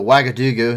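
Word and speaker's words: Ouagadougou: helicopter was hospitalized and coming out of a wagadugo here in Burkina Faso and I do know I pronounced that one right um protesters in the city of wagadugu demanded the immediate expulsion of the French ambassador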